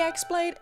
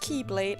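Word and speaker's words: χ-blade: out of mankind's reach the axe blade is correctly pronounced Keyblade however I will continue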